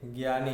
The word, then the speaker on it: ज्ञान: आपको याद रखना है हिंदी में कैसे बोलते हैं ज्ञान ग है और यह को साथ में मिलाकर गया है है याद रखना है